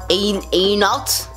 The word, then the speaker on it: Antoinette: Then the next one would be Antoinette, and that's pronounced Anot. It's kind of like I'm telling someone like, oh, no, the answer is no.